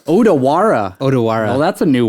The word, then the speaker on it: Odawara: hak Sor D dude you're not saying it right it's odawara odawara odara well that's a